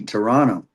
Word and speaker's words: Toronto: Shibby, we got to teach Damen how to say Toronto with a silent T. Toronto.